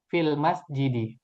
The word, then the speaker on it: fil masjidi: Nah, ketika ada fi maka dibacanya fil masjidi.